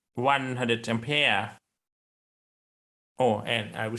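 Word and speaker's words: Ampère: you say it well in fringe his name is said as ompera omper in english this is generally said one of two different ways either in british english ampere ampere or in american english ampere and pia which one is the closest to the french certainly the british english pronunciation ampere is way closer to the french on pere or the original name and now you know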